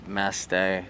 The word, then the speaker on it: Mastay: And remember, I know that last name can be tricky there, but it's Mastay. We are saying it right.